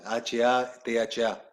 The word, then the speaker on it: Hatha: H-A-T-H-A. Se pronuncia Hatha, pero muchos le dicen Hatha, ¿no?